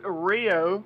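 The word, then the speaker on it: Rioux: It's Rio. It's So, Rio. yeah, Rio. Is the U and X is silent. So yeah, just think of it like Rio, and that's good Absolutely.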